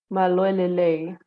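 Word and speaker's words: Mālō e lelei: Maloelele. And in Did I pronounce it right?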